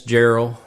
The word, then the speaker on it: Jarrell: right yep yep yep two RS and two L's and it's Gerald but I mean you